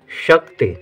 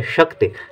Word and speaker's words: शक्ति: टी ता के साथ ई का उच्चारण है लेकिन कम देर के लिए। शक्ति, शक्ति नहीं, शक्ति नहीं, शक्ति, जब शक्ति है तो ता में ई की मात्रा रहेगी लेकिन छोटी ई की मात्रा रहेगी।